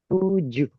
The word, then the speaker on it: tujuh: It is pronounced as tuju.